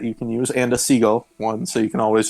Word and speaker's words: Siegel: It's pronounced like the bird, seagull.